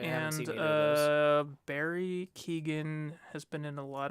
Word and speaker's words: Keoghan: I think they've only announced 2 actors, Paul Mescal and Barry Keoghan, I believe his name is pronounced. It's Irish. It has a lot of G's and H's.